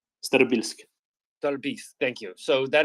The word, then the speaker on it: Starobilsk: Yeah, Kupiansk, and then you can help me pronounce this one, Staryobilsk. Starobilsk.